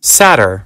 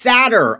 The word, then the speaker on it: seder: way the whole time Saturn no it's sadder oh my guys I hope you guys don't think I'm an idiot it's sadder sadder oh my goodness